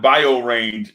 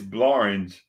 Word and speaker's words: Blorange: It's not Bio Range, it's Blorange.